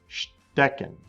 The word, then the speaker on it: Stecken: The ST sound at the beginning of the word makes a sht sound. Stecken.